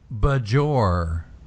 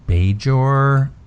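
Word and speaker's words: Bajor: tell you why because you'll notice that he pronounces it budge or and it's true yes he doesn't say beige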